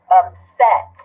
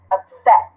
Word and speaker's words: upset: Upset, right? 2. Okay, do we have a CVC at the end? Yes. Consonant, vowel, consonant. Which syllable stressed? Upset. Upset. The second one.